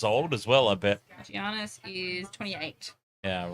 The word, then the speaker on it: Giannis: commentator and saying that they just say Giannis yeah fair enough Giannis he's Greek Nigerian right